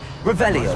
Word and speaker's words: Revelio: You're Revelius. saying it wrong. Ugh, Revelia. Revelio.